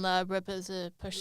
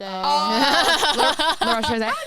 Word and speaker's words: La Roche-Posay: How do you pronounce that brand? La Repose-Posay. La Roche-Posay.